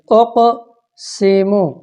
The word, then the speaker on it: اقسم: تعریف اقسم قاف قلقلہ والا تو اس کو حرکت دے کے پڑھنی. اقسم یبدئ یہاں پہ آپ